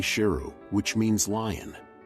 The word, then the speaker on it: Sheru: Saru also learned that he had mispronounced his name all these years. His name was actually Sheru, which means lion.